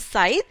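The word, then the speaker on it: scythe: In sunshine flames many a साइद, साइद एक tool होता है वो जो घास वगैरह काटने के काम आता है, एंड द pronunciation is साइद।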